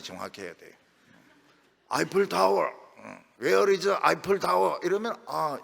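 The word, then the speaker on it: Eiffel: 근데 에펠탑이라면 못 알아듣습니다. 프랑스에 가면, 외국에 가면 에펠탑이라 이렇게 하면 안 돼. 꼭 아이플 타워 이렇게 해야 됩니다. 동부교회는 발음이 정확해야 돼요. 아이플 타워, Where is 아이플 타워?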